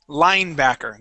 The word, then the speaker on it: linebacker: word the word is linebacker okay so the accent goes at the very beginning try that one more